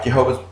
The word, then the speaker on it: Jehovah: differently right look okay in english it is usually pronounced jehovah okay the word jehovah